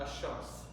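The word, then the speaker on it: الشمس: Shamsiya means you will not pronounce it, Ash-Shams.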